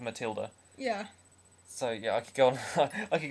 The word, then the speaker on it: Matilda: song i wrote i i really don't know why they pronounced it befilda because that's not how you say it i know matilda in the roald dahl books didn't have an h yeah but but it can't be it can be spelled that way but it's still pronounced matilda yeah so yeah i